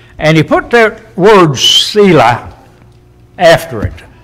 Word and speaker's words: Selah: And he put that word Selah after it. Some pronounce that Selah. I don't have any problem with either pronunciation. You can pronounce E's and A's in different ways.